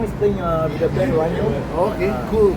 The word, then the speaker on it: Ragno: Okay, By the way, Stefano is playing with the band Ragno. Okay, cool. It's pronounced R-A-G-N-O, it's in Italian word, Ragno.